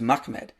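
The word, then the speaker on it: מחמד: The way you pronounce this word is Mahmed.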